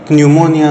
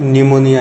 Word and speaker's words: pneumonia: ध्यान रखिए, इसका स्पेलिंग शुरू होता है पी से, ना कि एन से। पी ये अक्षर साइलेंट होता है और इसको प्रोनाउंस न्यूमोनिया नहीं करते हैं, सिर्फ निमोनिया ही कहते हैं।